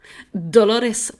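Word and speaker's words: Dolours: Quién es esta mujer dolores price no lo estoy españolizado es que el nombre se escribe dolors pero real que he escuchado Cómo se pronuncia y y suena a Dolores y de hecho es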